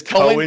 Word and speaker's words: Cohen: You casted Korean Disciples versus Team Freak Bob with Klimps. For the record, it's Cohen's Disciples. It is Cohen.